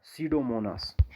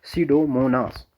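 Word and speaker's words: Pseudomonas: डीनाइट्रिफिकस एक बैक्टीरिया, दूसरा सीडोमोनास। बेटा देखो यहाँ पर पी जो है, ये पी पढ़ना नहीं होता, ठीक है ना, बहुत सारे बच्चों को पता ना हो, पी साइलेंट रहता है, सीडोमोनास।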